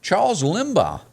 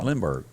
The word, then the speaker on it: Lindbergh: Charles Limbaugh was. Did I pronounce that right?